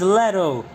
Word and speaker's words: Leto: She's Leto, not Teto. Why was I think I was mispronouncing her name in the previous stream as well. For some reason I was calling her Teto when she's Leto.